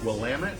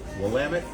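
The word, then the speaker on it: Willamette: And for those of you who don't know and you see it when you're out there, Wamut, it's pronounced Wamut. It looks like Wamett. Yes, Wamit.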